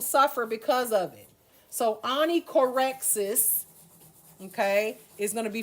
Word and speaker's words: onychorexis: This one is pronounced onychorexis.